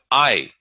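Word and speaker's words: ऐ: So we have I. I is a diphthong, but rather than sliding, it's a combination of I and E.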